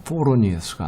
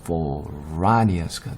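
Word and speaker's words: Phoroneus: 영어로 발음할 때는 요게 뭐죠? for 한 발음, ra 두 발음, d 세 발음, us 네 발음이잖아요. 뒤에서부터 하나, 둘, 세 번째 액센트라고 하는 스트레스가 와요. 그렇기 때문에 foronius가 아니라 foranius가 되는 거예요.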